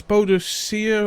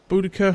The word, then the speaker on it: Boudicca: As Boudicca or Boudica, however you want to pronounce it.